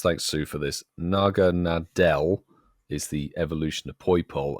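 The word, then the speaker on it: Naganadel: this and explain but it's because and actually pronounce thanks sue for this Naga Nadel is the evolution of Poole and because it's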